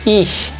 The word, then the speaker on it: ich: Cuando tenemos CH al final se lee sh. Esto se lee ich, ich.